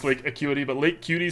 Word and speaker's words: Lake Acuity: This used to play with Lake Cutie instead. For those of you at home, I do know it's pronounced Lake Acuity, but Lake Cutie sounds so much more fun.